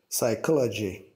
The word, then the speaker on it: psychology: It was that he didn't say the P at the beginning. He ignored it and said psychology.